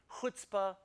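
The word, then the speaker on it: chutzpah: to us from Hebrew now these words are pronounced with this sound uh uh with this kind of friction noise coming from the back of your mouth it's similar to the huh sound in Baja if you speak German but of course because most English speakers can't pronounce this sound they just kind of substitute an H sound a huh sound so here are a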